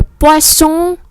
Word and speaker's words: poisson: Nó có hai chữ S rồi, mình đọc lại chữ S bình thường được rồi. Le poisson, l'oiseau, vì có một chữ S nằm ở giữa hai nguyên âm.